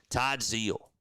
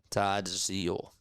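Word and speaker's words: Todd Zeile: It's how you learned Todd Zal. That's how you pronounce it. Todd Zal.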